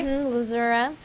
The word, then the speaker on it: Lzuruha: lazura is that am I saying it correctly lazura yeah really interesting a lot of times we